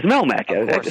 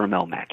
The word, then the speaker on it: Melmac: Al's home pled is Melmac some say melm I prefer Melmac Melmac yeahh it's just